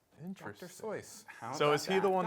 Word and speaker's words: Seuss: Seuss, rhyming with Zeus, the correct pronunciation is Soice. That rhymes with voice. Dr. Soice.